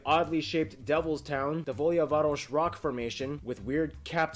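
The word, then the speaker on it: Đavolja Varoš: yellowvac or the oddly shaped devil's town the volyavarosh rock formation with weird capped spires created by volcanic activity how did you pronounce that da voyage varus meaning like yeah devil's town so a long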